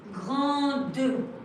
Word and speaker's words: grande: And this is because when you turn it into the feminine form, you had a E at the end. So you need the D. Example. Grande, grande. Elle est grande.